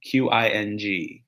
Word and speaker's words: Qing: Will the Qing Dynasty be called the Qing or the Manchu on the test, or both? It'll be called the Qing Dynasty, but it'll be spelled with a Q, Q-I-N-G, Q-I-N-G.